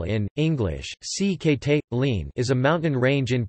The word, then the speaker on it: Sikhote-Alin: The Sikhote-Alin Russian, Sikhote-Alin Russian pronunciation, SX. L in English, Sikhote-Alin is a mountain range in Primorsky and Khabarovsk